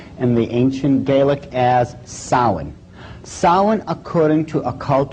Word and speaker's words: Samhain: the name it looks as if it's saying Samhain or something like that no no no no this is properly pronounced and the ancient Gaelic as sowon sowon according to a cult tradition was the